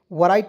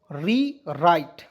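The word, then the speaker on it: rewrite: यहाँ आप देखेंगे RE, तो इसे पढ़ेंगे दोस्तों री, और WRIT इसे पढ़ेंगे राइट। वराइट नहीं पढ़िएगा, W इसमें साइलेंट रहता है, ठीक है। री राइट।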